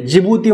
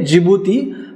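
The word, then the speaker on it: Djibouti: देश आहे ईशान्यला आता याच्या नावामध्ये सुरुवात डी या स्पेलिंग पासून होती ना डी या अल्फाबेट पासून पण प्रोनाऊन्स डी चा करायचा नाहीये जिभुती म्हटलं जातं याला ओके डी हे फक्त सायलेंट आहे जिभुती हा देश या इथियोपियाच्या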